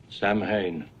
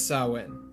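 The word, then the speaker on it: Samhain: Blood on the chalkboard Lumis mispronounces it throughout the whole ordeal Sam Hayne but I assure you it's sawin Michael finds his way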